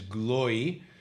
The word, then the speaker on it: Gloy: says that the way to pronounce his family name is Gloy.